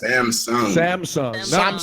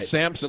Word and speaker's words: Samsung: Samsung. How do you say it? Samsung, isn't it? Samsung. Not like Samson, like George Samson.